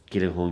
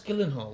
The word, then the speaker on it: Gyllenhaal: parents then are they or his parents famous Gillen Hall Gillen Hall and how do we pronounce Gillan hall because because the way it's WR daddy Gall